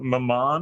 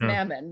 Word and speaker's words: Mammon: go ahead and oh why do i call it maman rather than mammon i have no idea we all know from playing pandemic with this man that he cannot pronounce names because that was intentional i like maman i believe i like this i like maman better but it is pronounced mammon because it's a biblical thing or whatever i don't know